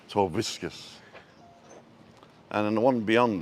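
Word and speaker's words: Torviscas: The one closest to us is Playa Torbiscas. And even though it's spelt with a V, it's pronounced with a B, Torbiscas.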